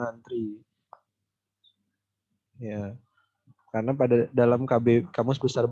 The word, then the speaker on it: antre: Tulisannya antre tapi dibacanya antri.